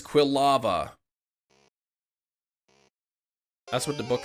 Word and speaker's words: Quilava: you about the whole quava well the book says Quilava that's what the book